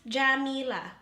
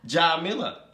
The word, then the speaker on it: Djamila: It's pronunciation's gonna take some time. So no, be but think about it. Real monsters. Jah-Mee-Lah. Djamila.